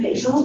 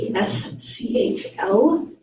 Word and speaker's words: Poeschl: Paschal, it's Poeschl.